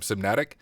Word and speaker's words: CMNatic: First, is that how you pronounce the name, CMNatic?